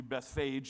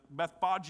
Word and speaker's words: Bethphage: If you were reading it in English, it'd be Bethphage. That's how we would pronounce it. But Bethphage is the way you would say it.